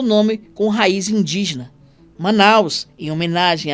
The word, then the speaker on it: Manaus: Manaus escrito com o, mas com a mesma pronúncia. A fonética não muda.